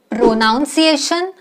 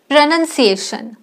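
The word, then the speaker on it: pronunciation: चुकीचे करत आलो आहोत प्रोनाउन्सिएशन नो इट्स प्रोनाउंसिएशन प्रोनाउंसिएशन Wednesday no it's Wednesday Wednesday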